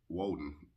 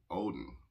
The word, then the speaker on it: Woden: he renamed wednesday um woden oden pronounced with a w in germanic tribes was walden's day his